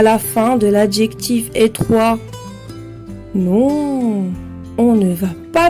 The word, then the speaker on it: étroit: Il fait sonner le T qui termine l'adjectif étroit et qui est muet au masculin.